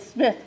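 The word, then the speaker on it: Psmith: Smith's series that is Smith with a p p s s m i t h but the p is silent you'll have to admit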